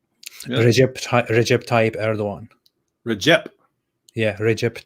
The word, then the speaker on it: Recep: Recep Tayyip Erdogan. Recep. Yeah, Recep Tayyip Erdogan. That's how you say it. Why do they spell it with like a C? That's C is J in Turkish.